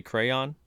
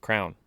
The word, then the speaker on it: crayon: yeah c-r-a-y-o-n crayon crayon you say crayon yeah i've always like grown up i would just say crown yeah so did i but mom would literally be my ass about it she'd like no it's crayon no it's crayon so